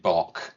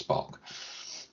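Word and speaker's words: Bache: Spencer, Spven Spen King who did the engineering and David Bock who did the design. Uh, I'm not 100% sure the pronunciation of that, but I'm assuming it's Bach. B A C H E.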